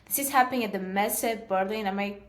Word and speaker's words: Messe Berlin: This is happening at the Messe Berlin. Am I pronouncing that correctly?